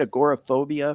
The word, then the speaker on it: agoraphobia: I think is that how you say it agoraphobia yeah yeah and he he you know I